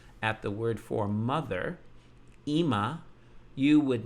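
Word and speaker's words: אמא: You might think it's Ama because you would think Aleph is an A. But it can carry the I vowel, the hirik, the dot underneath. So we see that Ima is mother.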